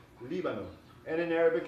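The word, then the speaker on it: Líbano: Lebanon in Spanish has the accent on the first syllable. It's Libano, Libano.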